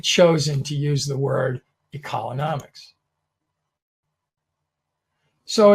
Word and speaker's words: ecolonomics: It is the synergy between ecology and economy. And you'll see in that little picture, it shows that. And society also. So again, pronounced ecolonomics. A lot of times people go ecolo, and it's ecolonomics.